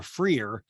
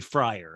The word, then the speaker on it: Freier: years and then you realize you're saying their last name wrong? And like, you just subtly, hey, am I saying your last name right? And they're like, no, it's completely different. Like, she's like, it's actually Freier.